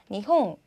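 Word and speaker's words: 日本: 그다음 자 일본은요 니홍, 니홍. 그다음 전화는요 자 와행이 왔는데 보니까 電話, 電話, 電話 라는 발음으로 납니다.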